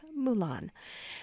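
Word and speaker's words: Moulin: called Mulan, which is spelled M O U L I N, but we think is pronounced just like the princess, Mulan.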